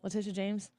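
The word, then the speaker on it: Letitia: what is going on with the Trump trial Laticia James is that right Laticia James I always think I'm thinking LeBron James when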